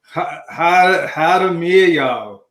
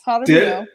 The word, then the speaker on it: Jaramillo: Her real name is Nicolene Jaramillo. Okay, Nikki, can you help me with that? You said it right, Joe. Yeah. It's Jaramillo.